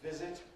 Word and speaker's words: visit: Visit, again, has got a Z in the middle. In a word such as visit, there should be voicing right through. Visit, visit, visit. What's wrong if I say, I will visit you? Visit, visit, visit, visit. That's wrong.